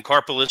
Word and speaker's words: Karpeles: Karpeles, carpal tunnel syndrome. That's what I remember it now as. It's a good way to remember it.